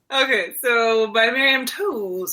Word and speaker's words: Toews: new book recommendation women talking by Miriam Toews oh it's three oh wow it's actually pronounced TOS it's loosely based on a real story of